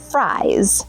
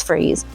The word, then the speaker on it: Fries: And it is spelled like fries, but no, no, it's freeze.